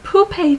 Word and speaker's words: poupée: Hi everyone, it's another edition of Poupée Theater, where the puppets, or poupée in the French pronunciation, help us learn more about Abraham-Hicks and law of attraction.